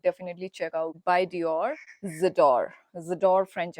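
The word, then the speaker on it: J'adore: vibe, you should definitely check out by Dior Zedor French accent. guys, I'm not French, okay? It is pronounced as z वाला, ठीक है? J लिखा है, but J is silent, and it's more pronounced like Zador, Zador, okay?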